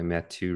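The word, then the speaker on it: Matthieu: a book called Happiness by matu Ricard so like get to like a French version of Matthew thank you I was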